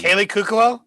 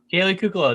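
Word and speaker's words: Kaley Cuoco: i'm not sure uh now i'm going to pronounce her name all wrong the league haley cuckoo kaylee cuclow there you go look you did it for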